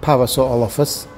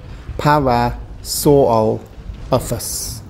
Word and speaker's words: Parasaurolophus: It's not an easy dinosaur name to say. We break it into the syllables here. Parasaurolophus.